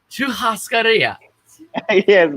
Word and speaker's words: churrascaria: We went to eat Brazilian churrascaria. Churrascaria. Churrascaria. Churrascaria. Yes, Brazilian.